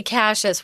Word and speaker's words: Cassius: We say Cassius where I'm from. Cassius Clay. But, there are different pronunciations, yeah.